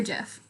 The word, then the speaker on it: GIF: however you would like i prefer well the correct what i the correct way is is gif because it stands for graphic interchange format so if you say